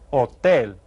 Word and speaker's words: hotel: It is hotel. Hotel. Now you hear that you don't pronounce the H in Spanish, so it just sounds like hotel.